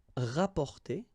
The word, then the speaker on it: rapporter: You can also use this rap, rapporter, rapporter. So same thing here, you don't pronounce the double p.